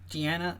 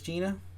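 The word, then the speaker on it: Jeana: her name was Gina because it's j e a n a so it's not Gianna it is Gina but I'm just I'm used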